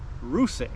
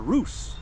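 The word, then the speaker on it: Russe: Caviar ruse or Roose R U SS E. No accent on the E.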